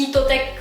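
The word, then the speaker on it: Heattech: pour l'hiver, ça s'appelle, en japonais on dit Hitotech, en français ça s'écrit en anglais Heat comme la chaleur et Tech, technologie. Et en fait aujourd'hui Gen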